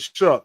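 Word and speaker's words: Shough: You pronounce it shuck.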